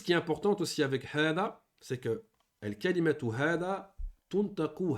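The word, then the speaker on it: هذا: Donc, hada, on le prononce hada. Attention, c'est un med, c'est deux temps dans le Coran.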